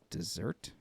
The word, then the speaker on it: deserts: always thought Just Desserts was two s's like dessert maybe not I'm going to Google it no